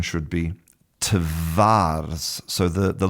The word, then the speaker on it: twarz: So, if you listen to, you know, Polish people when they're speaking normally, they'll say twarz. Twarz. So, the v v becomes f.